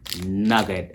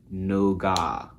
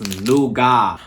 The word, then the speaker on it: nougat: american and they said no got like no gut but in south africa and i believe like in the uk they say nougat so the t is silent honey it's nougat but anyway i need